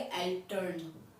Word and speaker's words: Eltern: German में हम parents को कहेंगे एल्टर्न, क्या कहेंगे एल्टर्न, ELTERN, एल्टर्न।